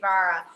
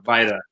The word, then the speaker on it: Vajra: for JD Vajra. Am I saying that correctly? Yeah, so you would say Vi. The J is not actually pronounced the way that we pronounce a J.